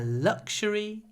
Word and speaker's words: luxury: and luxury items luxury lots of L not a lot of not luxury but luxury luxury okay the next